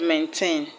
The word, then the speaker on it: maintain: I hope you remember that when you have bisyllabic words that are verbs, you have to stress the second syllable. Now let's look at the word maintain.